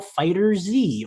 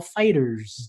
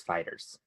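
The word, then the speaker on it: FighterZ: The correct pronunciation is Fighters. I heard Fighter Z the other day. No, though. it's Fighters. Capcom confirmed it.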